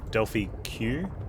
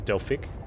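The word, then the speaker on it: Delphyq: I don't know if you heard earlier, I said I got access to a game called Delphi Q. I think it's Delphic, but it's spelled D-E-L-P-H-Y-Q.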